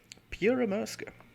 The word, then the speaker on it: Pyörremyrsky: today with quite a unique machine the finnish pyramurska and yes apparently that's the way you pronounce it pierre maerska which is finnish in stands for a hurricane